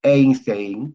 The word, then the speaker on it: Einstein: Einstein, que se escribe Einstein, por si acaso, en un buen alemán es Einstein, ¿no? Pero la palabra A, E, I se pronuncia en un buen alemán AI, EI, AI, ¿no?